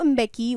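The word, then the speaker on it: Mbeki: president alright then थाबोर पे एम का जो साउंड होता है इट्स not silent it इज a inky की तरीके से बोला जाता है थाबू इंबे की वाज सोन इन एज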